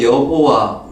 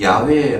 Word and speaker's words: 야훼: 수 있습니다 어느 사실 우리가 여호와 이것은 한국식 어 좀 표 이라고 할 수 있는데 사실 원어에 가까운 발음은 야외 라고 어 많은 분들이 얘기하고 있 죠 이것은 나라마다